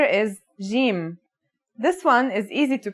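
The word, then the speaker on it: جيم: in standard arabic and syrian arabic it should sound like the j in the word jam while in egyptian arabic it sounds like the g in the word game they're both quite easy to pronounce though now let's handwrite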